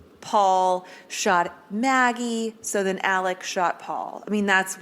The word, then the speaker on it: Alex: is Alex Alec it's Alec I mean it's spelled Alex but it's pronounced Alec um I don't know